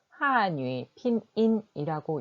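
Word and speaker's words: 汉语拼音: 그 밑에 영어처럼 보이는 바로 한어병음으로 그 발음을 달아 두었습니다. 제가 한번 읽어볼게요. 한유 피닌. 네, 한어병음은 중국어로 한유 핀인이라고 읽고 이렇게 한어병음으로 이렇게 써둡니다.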